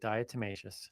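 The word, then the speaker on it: diatomaceous: Dietmacious.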